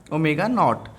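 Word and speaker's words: ω₀: पैर में ज़ीरो लगा देंगे ऐसे, जिसको हम प्रोनाउंस करते हैं ओमेगा नॉट।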